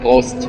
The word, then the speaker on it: Prost: Prost. Prost. That's how you say it in German, right? Yeah, Prost.